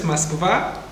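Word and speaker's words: Москва: In Russian, it's Moskva. Moskva. Yes. Then in English, it's Moscow.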